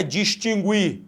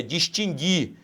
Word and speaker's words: distinguir: O mesmo fato ocorre com o em, letra A, não é distinguir, cuidado com isso, é distinguir, esse U não é pronunciado.